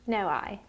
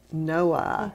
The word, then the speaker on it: Noailles: So let's talk about Mary, and her middle name is pronounced Noailles. That's how the family has pronounced it. Noailles, and it is spelled Noailles.